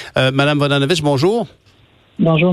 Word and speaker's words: Vodanovic: qui est dans l'équipe, Valérie Plante, Mme Maya Vodanovic, Mme Vodanovic, bonjour. Bonjour, M. Bonjour, est-ce que j'ai bien prononcé votre nom?